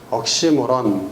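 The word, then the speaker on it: oxymoron: 모순어법은 영어로 옥시모론 발음대로 하면 억시모론 이렇게 되는 악시모란 억시모론 뭐 옥시모론이라고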